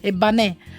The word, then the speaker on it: Ebbanesis: Un po' strano, abbiamo cambiato l'accento però, perché si dice Eban e Eban. noi invece abbiamo cambiato, abbiamo messo l'accento sulla seconda e quindi Ebanè, no?